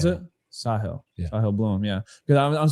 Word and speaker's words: Sahil: Um it's Sahil, not Sahil because it's an Indian name. That's why Sahil. Sahil. That's that's how I pronounce it. Sahil.